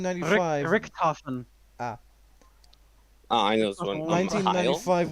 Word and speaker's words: Richthofen: Do you not know how to pronounce German? No, I don't. German name, 1995. Richthofen.